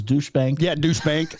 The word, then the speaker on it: Deutsche Bank: the one that uh I kind of sometimes mispronounce as douche Bank yeah douche bank it's